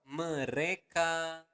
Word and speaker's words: mereka: So, mereka makan setiap hari. Okay? One more time, slower. Mereka makan setiap hari. So again, you want to pronounce the letter R clearly.